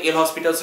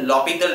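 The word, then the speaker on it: L'Hôpital: एल हॉस्पिटल्स rule था, उसको actually में कहा जाता है लॉपिटल रूल, लॉपिटल, ठीक है ना। उसका वर्ड का जो प्रोनाउंसिएशन होता है लॉपिटल होता है, लेकिन तुम लोग किया है उसको हम रफली एल हॉस्पिटल्स भी कहते हैं, तुम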